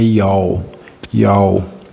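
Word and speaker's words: Yahweh: Eles dizem que a pronúncia é Yal, né?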